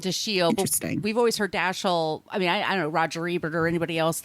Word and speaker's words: Dashiell: Hellman in that interview says that the correct pronunciation is actually the shield The Shield we've always heard daschal I mean I know Roger Ebert or anybody